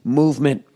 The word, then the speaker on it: MVMT: Oh, MVMT, Movement Watches, pronounced movement, was founded on the belief that style shouldn't break the bank.